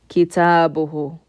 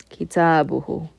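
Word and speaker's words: كتابه: to make it his, I add hu at the end, the letter ha with the dhamma. Pronounce the letter before with a dhamma as well. Kitabuhu. Kitabuhu.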